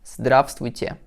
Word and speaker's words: здравствуйте: Friendly, привет, привет, привет, and polite, здравствуйте, з, д, р, а, б, с, т, в, е, те.